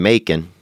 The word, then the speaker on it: Macon: And because everything because one thing that's popular that rhymes with Macon is bacon.